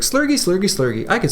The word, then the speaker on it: Slurgi: I originally decided the pronunciation of my name long ago was Slurgy, like with a J sound, and a StarCraft caster,